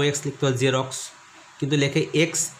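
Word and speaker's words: Xerox: এক্স ইউ ভি আই, এক্স দিয়ে জ উচ্চারণ হয়, তোমার দোকানে দেখেছো জেরক্স লেখা আছে, ওটা লিখতে পারতো জেড ই আর ও এক্স লিখতে পারো জেরক্স, কিন্তু লেখে এক্স ই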